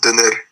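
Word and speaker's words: döner: In Turkey, they call it the doner kebab, and it is amazing. It is amazing. It's pronounced doner.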